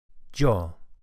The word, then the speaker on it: yo: The Y is pronounced similarly to English, but with a hint of J. Jo.